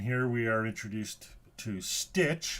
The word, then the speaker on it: Stytch: we are introduced to stitch I assume that's how it's pronounced s-y-t-c-h how else would you pronounce it uh One Stop